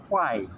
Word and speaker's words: Quay: It's bounced, but it is printed as Quay, Q-U-A-Y, but it's pronounced as Quay, circular quay.